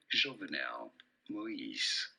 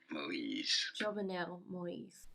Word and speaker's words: Jovenel Moïse: Jovenel Moïse. Jovenel Moïse.